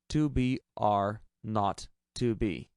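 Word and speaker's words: 2BR02B: The 0 on the telephone number he pronounced not. The number was 2BR not 2B.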